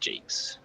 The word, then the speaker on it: Jacques: And now it's pronounced Jakes. Are you messing with me? No, that I'm not messing Oh, really? with you. It is Jakes, yeah. Okay. It's an anglicized French name, much like mine.